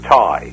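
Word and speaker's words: Tighe: many persons influenced by Randolph Mantooth and Kevin Ty. Am I pronounced his name right? It was Ty. Absolutely. Yeah. Ty.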